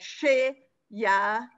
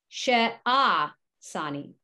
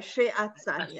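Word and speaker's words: שֶׁעָשַׂנִי: Sheyah. It's not Yah. That's an ayin. Yeah, ayin is silent. It just looks like a Y. Yeah. Oh, so Sheyasini. She-a-sani. Okay, she-a-sani.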